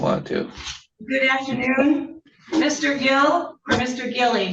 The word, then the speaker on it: Gille: Lee, do we pronounce his last name Gille or Gil? Yes, Gille.